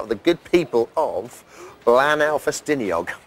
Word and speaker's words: Blaenau Ffestiniog: the good people of Blaenau Ffestiniog. I think you'll find that's a correct pronunciation of Glyn's hometown. Yes, BBLB, we have come right here to Blaenau Ffestiniog, the home of Glyn.